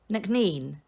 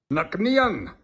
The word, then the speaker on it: Nc'nean: I would pronounce it Nc'nean. Yeah, Nc'nean. Nc'nean. Nc'nean. Nc'nean. Nc'nean. Nc'nean. Nc'nean. Nc'nean. It's Nc'nean. Nc'nean.